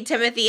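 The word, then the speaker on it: Timothée: angles of these three talking there would be Timothy and Selena you know yeah I think it's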